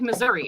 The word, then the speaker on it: Missouri: It's like Missouri. It's not Missouri. Colorado. Mhm. It's Missouri. It ends with an I. Missouri. Right. Missouri. Justin says Misery. it's pronounced misery.